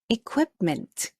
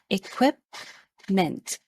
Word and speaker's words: equipment: it is pronounced as equipment the stress is on the second syllable equipment please say it equipment very good all right